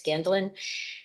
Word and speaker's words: Gendlin: It's not Gendlin, it's Gendlin.